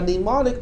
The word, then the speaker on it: mnemonic: A mnemonic of an instruction is really a name that is easy for us to remember. Okay, mnemonics spells as M-N-E-M-O-N-I-C, mnemonic. The M is silent.